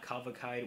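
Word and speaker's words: Cavalcade: black midi I wasn't a huge fan of kavakai with the time it came out last year so that's how you pronounce the name of the record uh but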